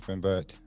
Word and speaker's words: Rembert: Rembert. Is that correct? Yeah, it's Rembert. Rembert, I'm sorry. Okay, I want to make sure I'm pronouncing it correctly.